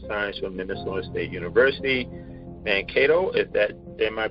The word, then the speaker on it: Mankato: Mankato, am I pronouncing that right? Mankato and Mankato, yep.